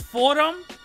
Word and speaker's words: Fordham: videos that I'm hearing it's pronounced Fordham not Ford ham piace Nick Ford him